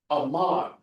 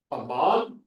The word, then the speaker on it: Amman: the Jordan River, is Amman. Amman, Ammon. Ammon, you do a little, it's called a vowel shift linguistically. Ammon became Amman. So it's the same name, just pronounced differently.